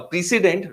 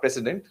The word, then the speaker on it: precedent: event you understand what the president is a precedent not president a precedent is that